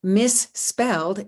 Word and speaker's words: misspelled: So misspelled is 2 syllables, and you'll notice that the number of morphemes and the number of syllables is not the same, because in the word misspelled, the final suffix is pronounced only as a single speech sound, not as a separate syllable.